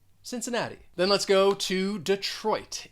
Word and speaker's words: Cincinnati: city in ohio and both of those cs they're going to sound like an s that second syllable has the schwa since the third syllable stressed and that fourth syllable has the long e and also that final t it is a flap t so there's a lot